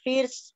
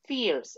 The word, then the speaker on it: first: It is on the first floor. Okay, la pronunciación no es fierce, es con E. First.